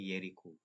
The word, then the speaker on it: Jericho: Ejaannya J tapi sebutannya Yeriko.